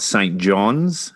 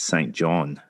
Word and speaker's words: Saint John: first people to correct me on uh the pronunciation of St. John. It's not St. John's as I was corrected when I was in New Brunswick, which is the uh capital of Newfoundland. It's St. John.